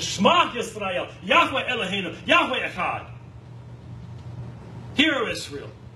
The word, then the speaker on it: Yahweh: So if you want to do it correctly, and let's remember this is a scholarly reconstruction, it would be Yahweh, Yahweh.